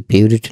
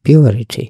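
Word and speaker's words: purity: হয় পিউরিটি উচ্চারণটা কিন্তু পিউরিটি না উচ্চারণটা একটু লম্বা আছে পিওরিটি পিওরিটি পিওরিটি মানে হচ্ছে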